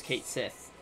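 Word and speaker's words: Cait Sith: something following Reeve or something, you know, who's Kate Sith, or Ketchy, or however you want to say it. I'm going to say Kate Sith.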